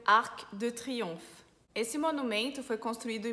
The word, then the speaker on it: Triomphe: A gente tem a palavra triomphe. Em triomphe tem o PH, que em francês fica som de F, então Triomphe, l'Arc de Triomphe.